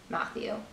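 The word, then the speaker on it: Mathieu: I've heard this pronounced a couple different ways, but I think it's Matthew.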